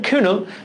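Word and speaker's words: Cuénot: technology চুয়েটন নট French নামগুলা এইরকম এ আসল উচ্চারণটা কিনো লিসিয়েন কিউনো তিনি সর্বপ্রথম ইদুরের গায়ের বর্ণের ক্ষেত্রে লিথাইলজিনের উপস্থিতি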